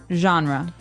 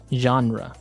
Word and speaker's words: genre: pronounced differently we say genre genre or genre this kind of sounds French is it French I think it comes from French uh it's a g word so genre it's a soft soft sound and what's a genre